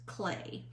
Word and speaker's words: Klee: His last name is spelled Klee, but it is pronounced Klee.